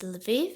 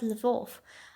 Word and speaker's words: Lviv: one here for example it's lev and not le wolfe odessa with one s